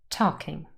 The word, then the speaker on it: talking: of two syllables and the first syllable talk carries the main stress we have a silent letter here the L is not pronounced talking so what if we